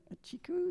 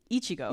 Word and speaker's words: Ichigo: Yes, I'm sure they may but there um the first game they work on together a chiku. Is that how you say it? Ichigo.